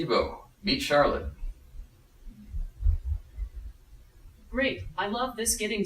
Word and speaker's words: Charlotte: and face so I'm supposed to call you Charlotte is that how you say it yeah yes yes great Charlotte Charlotte Charlotte Oh